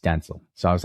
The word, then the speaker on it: Denzel: Yeah, but you also say Gal Gadot, so you're yes, I know, but I distinctly remember Denzel saying it's pronounced Denzel.